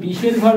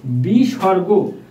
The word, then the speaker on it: বিসর্গ: এই দুইটা বিসর্গ আছে এটাকে অনেকে বিষের ঘর বলা বলে থাকে ভিউয়ার্স এটার শুদ্ধ উচ্চারণ বিসর্গ সো ভিউয়ার্স এখানে বিসর্গ